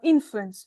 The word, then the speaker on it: influence: Uh, influence. The stress is on the first syllable.